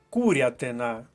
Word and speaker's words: курятина: незвичності вимови тож Засуха курятина наголос на першому складі курятина перша колонка курятина